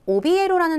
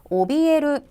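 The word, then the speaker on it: 怯える: 되실 거예요 자 그다음 오비라 동사 보시겠습니다 여러분 발음 주의하세요 오비라 읽고 우리말에 겁먹다 뜻입니다 해서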